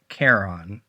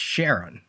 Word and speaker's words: Charon: If we're thinking that Leland Macaulay's right-hand assassin is named after the Greek god, then it would be pronounced Charon. Okay, that's what I was thinking. But if it's a moon of Pluto, it's Charon.